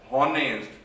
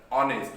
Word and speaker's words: honest: We are not saying the honest. We are not saying the honor, but the word is honor. Here are, here honest. We are not saying that honest, right? So here H is a silent.